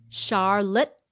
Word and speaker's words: Charlotte: charlotte charlotte charlotte charlotte no shh like an sh charlotte charlotte charlotte charlotte uh-huh charlotte